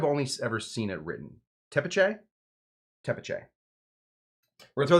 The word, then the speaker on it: tepache: As a native Spanish speaker, says Non-Touchable, I think it's tepache. Pronunciation seems right in my book.